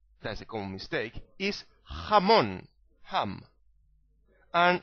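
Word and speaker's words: jamón: a noun okay now you need to clear your throat because you need to make that sound when you pronounce the letter J in Spanish so is not jugar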